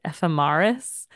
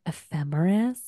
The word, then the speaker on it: ephemeris: She said it ephemeris. And I just looked at her. I go, it's pronounced ephemeris.